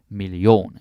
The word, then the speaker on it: million: way foreign good stuff notice how the pronunciation is a little bit different you say million we are million and we put the stress on a eon we do that a lot in Danish so Huna foreign chosen million huh 200.